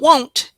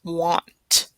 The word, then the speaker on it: want: It's not won't, it's want.